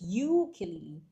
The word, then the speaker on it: ukulele: So if it sounds like you, it has to sound like ukulele, but it's pronounced as ukulele.